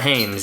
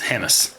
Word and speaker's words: Hammes: But it's Hamas. not Hames, yeah. Yeah, it's Hamas.